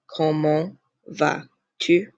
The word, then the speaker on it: comment vas-tu: Comment vas-tu? Again, do not pronounce the S and end this in a nasal.